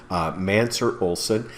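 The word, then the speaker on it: Mancur Olson: from a guy named mansur olsen yeah it doesn't look like it's spelled that way but it is mansur olson he was a political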